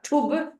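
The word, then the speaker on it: Thub: t h u b it's an aspirated t t it's not th it's t tub was one of the words of the Buddha and then ten means teachings tub 10 I got that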